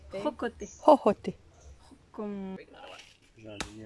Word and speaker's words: jocote: Jocote. Ojote? Jocote.